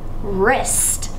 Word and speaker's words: wrist: how about the word wrist like my wrist is hurting uh it could be spelled r-i-s-t but wrist has my WR silent digraph all right and the